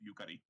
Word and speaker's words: Yukari: Yeah, the emphasis is on the first syllable of Yukari.